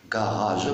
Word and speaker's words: garage: Alors si je découpe le mot, ça donne comme ça. Ga, première syllabe, ra, je. Garage. Pourquoi? Parce que la lettre G est suivie par A.